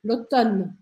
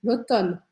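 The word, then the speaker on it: automne: olha só que interessante se escreve Oton com m MN mas a gente só fala o n lotan lotan o Brasil de Mars A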